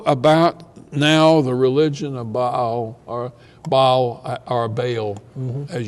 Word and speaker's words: Baal: the worship of Baal let me say a word about by because her I usually accident the first syllable bow ok it's it's a word